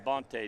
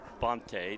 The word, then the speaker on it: Bonte: Bonte down there 18 warming up. He was so happy last week that I pronounced his name correctly. Bonte, not Bont.